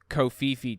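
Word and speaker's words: covfefe: early May 2022 this is about Trump's famous kofifi tweet where he said there's negative press coverage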